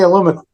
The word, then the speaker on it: aluminum: Words is like like like in uh the UK like aluminum we say aluminum yeah they say aluminium yeah I've heard that before